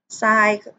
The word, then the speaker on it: ทราย: บ่ ทราบ นะ คะ ทราย ก็ ทร ออก เสียง ให้ โซโล นะ คะ อ่าน เป็น ท่อ โซ อา ยอ ทราย นะ คะ ทั้ง วัน นี้